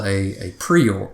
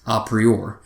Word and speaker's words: a priori: And there's something called a prior, or it's actually pronounced a priori.